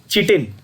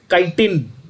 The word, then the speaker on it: chitin: Now there are idiots who call this chitin. That is fine. They are not idiots. I wouldn't say they are idiots, but there is a different pronunciation. आप इसको, बहुत सारे लोग इसको काइटिन भी कहते हैं, कुछ लोग चिटिन भी कहते हैं। आप दोनों कह सकते हो, कोई फर्क नहीं पड़ता।